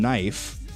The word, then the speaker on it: knife: The K in knife, knife, as we pronounce it, is a remnant of old and middle English when the K and the N were both fully pronounced.